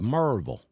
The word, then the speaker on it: Murrayville: from the Metropolis of marville marville Georgia I know the next question is where the heck is marville Georgia you know marvel it's spelled Murrayville my address is actually Murrayville